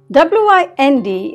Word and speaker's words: wind: W-I-N-D is pronounced as wind when you mean it in the form of air. It's very windy. But sometimes you wind up a watch.